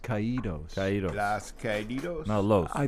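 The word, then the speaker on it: Caídos: now well kaido's your closer it would be pronounced ke DOS now you don't look I think those low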